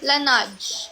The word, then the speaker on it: Laneige: Ano pa paano yung pronunciation? Laneige.